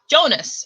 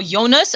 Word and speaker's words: Jonas: in on okay so jonas or jonas i think it's supposed to be pronounced jonas jonas um as he's